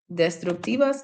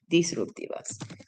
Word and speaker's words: disruptivas: When I made destructive, see, I knew I pronounced something wrong because this says destructivas and it should say disruptivas.